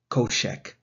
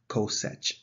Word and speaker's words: cosech: both and finally is hyperbolic cosecant it is pronounced kochec in british environment in american environment it is pronounced cosech so make up your